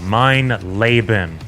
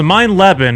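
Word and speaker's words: Mein Leben: on my nerves about mine laben which apparently is the correct pronunciation as you have all made me painfully aware of in the comment section since release so for the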